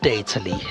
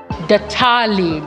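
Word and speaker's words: Datally: It's not called Detali, as I've been pronouncing it. Detali, that's how you pronounce it.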